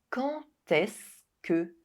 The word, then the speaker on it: Quand est-ce que: And except when quand is followed by est-ce que. In this case, the liaison is also compulsory. Quand est-ce que vous arrivez?